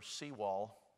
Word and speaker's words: Sewall: Let me give you a name you can remember, Sewall. My name is spelled S-O-W-E-L-L, and it was S-E-W-A-L-L, who was a judge,